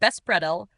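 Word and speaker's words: беспредел: The Russian term bespidel pronounced bespredell refers to actions that go beyond any written or unwritten laws representing an extreme degree of lawlessness and disorder.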